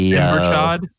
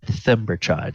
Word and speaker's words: Thimberchod: the Timberchod? he said Thimberchod. Thimberchod. Gartatak said Thimberchod, and that would be Thaldor.